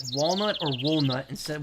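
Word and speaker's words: Volnutt: Is it pronounced like walnut or walnut instead with a V instead? It's volnut.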